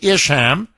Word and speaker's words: Isham: County, Wisconsin, Judge Monica, I think it's pronounced Isham. Anyway, if I mangled the last name, forgive me. It's Ham. Okay, Isham.